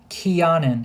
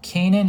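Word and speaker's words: Kenan: back and look the the proper name that should be here is Keanan it is not Canan and nor is it spelled like Canan it's a completely different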